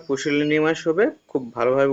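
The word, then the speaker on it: pusillanimous: দেওয়া রয়েছে সেলে মোস্টঅপ্রোপ্রিয়েট অন্টম গিভেন ওয়ার্ড পুশিনিমাস উচ্চারণটা পুশিনিমাস হবে খুব ভালোভাবে উচ্চারণটা করবে এর অর্থ হচ্ছে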